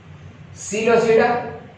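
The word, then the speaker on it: Psilopsida: सिलोसिडा एपिसिडोपिसिडा न पढ़ो हैप्पी ऐं हीअ पी साइलेंट आहे इन जे करे हिनखे सिलोसिडा पढ़बो पिसिडोपिसिडा न पढ़बो.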